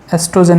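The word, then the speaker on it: estrogen: यहाँ पर ओ साइलेंट होता है, एस्ट्रोजन ही पढ़ा जाता है।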